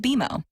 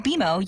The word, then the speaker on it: BMO: You'll be seeing us around soon, and when you do, I bet you'll call us BMO. Don't worry, it's more common than you think, but we actually pronounce it BMO. As in, with BMO, you can earn a cash reward every month you save.